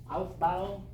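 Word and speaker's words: Aufbau: So, our first rule, outbow.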